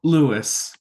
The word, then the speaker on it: Louis: Louis or Louise? Lewis. Louis. Okay, Louis.